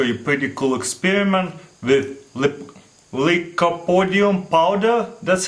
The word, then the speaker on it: Lycopodium: going to show you pretty cool experiment with liopodium powder that's how you pronounc dragon breath powder also it's what it